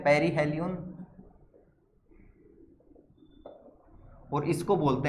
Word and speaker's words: perihelion: तो यहां पर इसको तो हम बोलते हैं पेरीहेलियन, और इसको बोलते हैं हम एपीहेलियन।